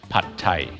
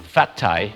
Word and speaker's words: pad thai: and that is called pad thai some shops might spell it with a ph so please do not call it fat thai when thai people cook